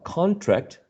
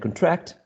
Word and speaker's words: contract: And there are some examples here, like, for example, contract and contract, object and object, in which the first one, which is a noun, right, has the first syllable stressed, and if you are stressing the second one, you are actually using a verb, right?